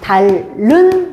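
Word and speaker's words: 닳는: 얘도 발음을 해 봅시다. 달른 달 흐 뭐 이게 히 발음 안 나죠? 그러고 나서 최종적으로 달른 이렇게 되잖아.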